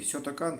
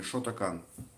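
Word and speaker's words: Shotokan: Типа нужно говорить кёкушинкай, или кёкусинкай, или сётакан, или шотакан. По барабану.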